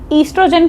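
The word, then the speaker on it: oestrogen: ईस्ट्रोजन को अगर ई से लिख के आओगे तब भी सही होगा। ओ से लिख के आओगे तब भी सही होगा। ओ साइलेंट होता है।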